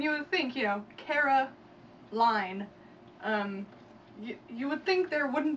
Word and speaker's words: Caroline: When a word is spelled L-I-N-E. It's pronounced line. Like the word L-I-N-E. Right, and you would think, you know, Caroline.